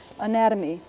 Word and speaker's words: anatomy: probably be something like this little mark means we're going to accent the next syllable nad to me roughly something like this Anatomy so letters which are